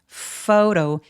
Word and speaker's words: photo: 여러분 여기서 PH는 어떻게 방금 제가 발음했는지 들으셨어요? photo, F로 발음했죠? faux, 오우까지 느껴지게 굉장히 길게 이중모음 발음해 주시고요. 요 T는 모음 사이에 끼어 있어서 굴러가는 소리를 내요. photo, water 할 때처럼 아까 굴리는 그 소리입니다.